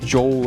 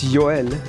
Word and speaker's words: Joel: It's not pronounced Joel or whatever. It's Joel.